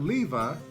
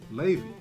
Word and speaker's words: Levi: pronounced lady's name incorrectly it's not levi as we are so accustomed to saying it's lazy now this was a loaded